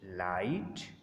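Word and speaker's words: light: Thought, throw, लाइट, माइट। अब यहाँ पर देखें लाइट और माइट में टी आ रहा है एंड पर तो इसलिए जी एच प्रोनाउंस नहीं होगा।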